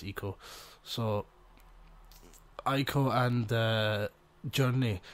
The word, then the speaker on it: Ico: was I call it IO even though I know it's pronounced Eco but I just always